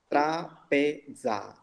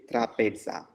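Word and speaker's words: τράπεζα: Trapeza. That is Z. Trapeza.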